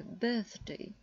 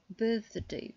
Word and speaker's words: birthday: Надо произносить «э», «birthday», «birthday», «bird».